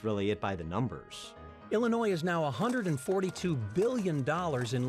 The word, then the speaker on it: Illinois: and here's why by the way the S is silent Illinois is one of 50